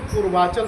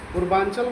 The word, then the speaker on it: पूर्वाचल: उसको बोलते हैं पूर्वांचल श्रंखला। पूर्वांचल नहीं। पूर्वाचल।